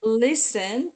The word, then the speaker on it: listen: Nah, itu mungkin tadi yang saya miss ini listen T-nya itu eh you don't pronounce the word T.